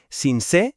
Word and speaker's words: Sincé: Hay que pronunciar bien las palabras, es Sincé, con acento en la e, y se pronuncia Sabanas, con s, no Sincelejo ni Sabanas.